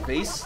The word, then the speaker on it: vase: while shooting this Priceless vase my grandmother gave me I certainly will Jared yes it's pronounced vas vas what are you franch